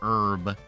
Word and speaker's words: herb: more like an herb the H is silent so it's supposed to be like an herb yeah more like an